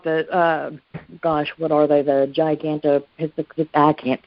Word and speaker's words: Gigantopithecus: you talking about the what are they, the Gigantopithecus? I can't say it right. Gigantopithecus.